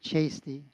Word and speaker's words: Chasty: Hi, I'm Chasty. Rhymes with tasty.